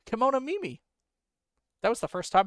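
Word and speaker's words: kemonomimi: I might be pronouncing that wrong. Let me check. Kimono Mimi. I got it right. Kimono Mimi.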